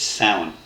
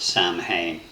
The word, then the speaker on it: Samhain: Let me just be clear at this stage, it's Samhain, it's not Samhain. If you're not a native Irish speaker, really don't try and get your head around the BH or the MH in Irish words. It would be a video in itself to explain it, just accept it.